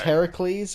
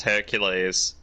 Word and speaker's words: Heracles: Octopus keeps saying it's Heracles, and then the spirit's the spirit says, I think it's pronounced Hercules, but the spirit's actually wrong.